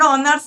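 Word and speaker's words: honours: की बोली ना हम ऑनर्स बोली तो ए देखो हम मेनली उच्चारण ही करी ऑनर्स तो जेतु ओ दी उच्चारण हो एच साइलेंट थके तो से रकम से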